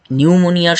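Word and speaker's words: pneumonia: এইভাবেই কনফিউজটা করে যে আপনার উচ্চারণের সাথে আপনার লিখিত বানানের কিন্তু একটা পার্থক্য করে দেয় তো আপনি মনে রাখবেন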